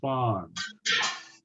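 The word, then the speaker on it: Fone: You know, Jack, what you might do, check with Alan Fawn or Phone, depending on how you want to pronounce the last name, but he's a general F-O-N-E, contractor.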